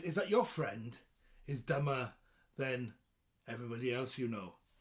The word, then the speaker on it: Dyma: Now, of course, it's spelled differently, but it sounds the same as the English word. It's spelled D-Y-M-A.